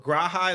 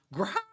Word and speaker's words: Graha: So Graha is correct. No, Graha. That's how you pronounce it.